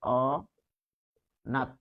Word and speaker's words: অনাথ: স্বরে আর ঠিক একইভাবে আমরা যদি অনাথ লিখি অনাথ তাহলে এখানে কি পাচ্ছি অনাথ এটির উচ্চারণ হচ্ছে অ নাত যেহেতু থেমে যাচ্ছি তাই নিচে হসন্ত দিয়েছি আর বানানের নিয়ম যেগুলো